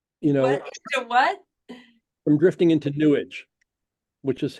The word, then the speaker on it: New Age: us from drifting into New Age. You know, What? from drifting into New Age, which is how what's his name? Penn the Magician pronounces New Age, pronounces it New Age. Newage, sewage, newage.